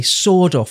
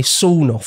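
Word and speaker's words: sawed-off: say first of all it seems like Americans say sword off shotgun and we say soff shotgun don't we anyway that's a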